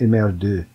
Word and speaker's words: MR2: in France because uh in French MR2 uh is pronounced image I'd not heard that